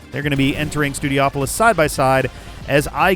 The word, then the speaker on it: Studiopolis: I feel like a lot of people say Studiopolis, but if you'll recall, in Sonic Adventure, there's a level that takes place in a casino-like setting that is spelled in a similar way. So here we've got Studio and Opolis, a suffix that has been used in a few zones in the Sonic franchise.